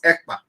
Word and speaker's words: Ekpa: name is not Igbo, and my name is not Akpan. My name is Ekpa.